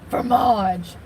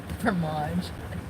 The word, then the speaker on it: fromage: You gotta roll that tongue.